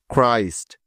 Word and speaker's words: Christ: যেমন CHRIST ক্রাইস্ট, CHRISTIAN ক্রিশ্চিয়ান, CHRISTMAS ক্রিসমাস, CHROME Chrome, CHRONIC ক্রনিক, CHRONICLE chronicle, etcetera.